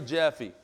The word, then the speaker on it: Jaffe: from strength to strength cult of Larry Jaffe that's how you pronounce it Jaffe Yaffe Jaffe all right your Squire